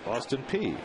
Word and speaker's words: Austin Peay: I never knew how it was pronounced that way, but it's Austin Peay in Kentucky. It's this P-E-A-Y.